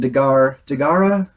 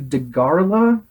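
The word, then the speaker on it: Dagahra: So our two kaiju this time we have the ocean dragon Daghara. They don't say his name right in this terrible dubbing. They changed it to Dagharla.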